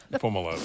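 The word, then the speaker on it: Fomalhaut: a lot that's how you say it foam a lot okay I got it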